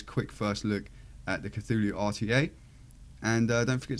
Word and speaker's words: Cthulhu: Vape the cthulu RTA I can pronounce it unlike Todd I only know that because there's a cradle fil song called cthulu Dawn and um that's why I know how to say cthulu there we go guys